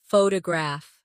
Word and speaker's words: photograph: Now photograph. The stress is on the first syllable. Photograph. Good.